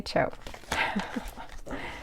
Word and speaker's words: TCHO: Oh, there's how to say the name. Just say CHO.